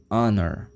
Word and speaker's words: honor: honra an Honor Honor porque aqui o som é do então é Honor isso que eu falo